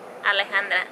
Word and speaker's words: Alejandra: Alejandra.